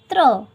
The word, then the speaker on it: त्र: त प्लस र प्लस अ के योग से बना है। इसका उच्चारण किया जाता है त्र।